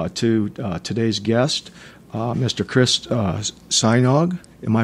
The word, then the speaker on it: Sajnog: Chris Sajnog. Am I pronouncing that right, Chris?